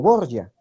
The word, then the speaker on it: Borja: y tú sabes que la familia borja en italia se pronunciaba como borgia entonces también era descendiente